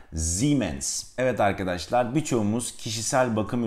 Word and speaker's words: Siemens: doğrusu ximen szeemann Siz Almanca'da seyahatimiz bazen Türkçedeki Z gibi bazen de bildiğimiz s gibi okunur ilk sz gibi son sese gibi okulun arkadaşlar Almancada iyi yanyana geldiğinde uzatılmış bir iyi gibi telaffuz edilir Dolayısıyla ximenes Evet arkadaşlar birçoğumuz Kişisel